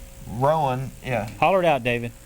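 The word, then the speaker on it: Rohan: Roan. Rowan, yeah.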